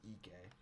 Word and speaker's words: Ike: Graham Ike is playing I think it's actually pronounced Ike not Ike if he's playing they're